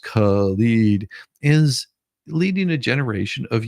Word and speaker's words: Khalid: Mayor Khalid, pronounced Khalid, is leading a generation of young activists from protests to politics.